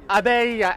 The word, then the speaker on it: Abeille: Is that the right pronunciation? Yeah, Abeille. Abeille.